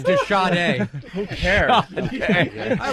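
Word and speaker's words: de Sade: Like something out of like a Marisade book. Marisade? Thank you, Dennis Miller. Jesus, the scratchy snippers, the sty. It's pronounced the e. Yeah, it's the shade.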